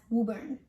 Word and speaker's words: Woburn: of this town what about this town it's pronounced as woburn and this one just boston okay that's all